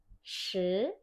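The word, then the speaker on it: 十: 10 tuh shi, shi, nadanya 2 naik. Dia naik shi, shi. Jangan lupa I bacanya seperti E. Shi, dan dia tebal, harus ditekuk lidahnya karena pakai H.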